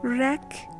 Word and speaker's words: wreck: W is silent when it comes at an initial position before H and R. It's silent after the fricative S in some words.